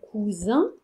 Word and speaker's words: cousin: exemple, vous ramassez les cousins, vous ramassez un cousin par terre? Vous voyez, le S est timide, il est tout rouge, il a rougi entre deux voyelles.